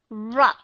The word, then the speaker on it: rupture: Có nghĩa là cũng là letter U, nhưng mà ở trong cái syllable thứ nhất, rup, thì chúng ta đọc âm short U sound. Nhưng mà cái chữ thì chúng ta đọc schwa sound.